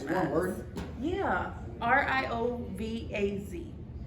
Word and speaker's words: Riovaz: RIOVAZ. Real Vaz. Yeah. I think that's how you pronounce it.